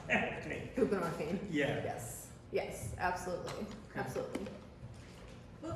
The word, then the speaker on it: buprenorphine: And you're equating lack of treatment with access to whatever, how you pronounce that thing? Buprenorphine.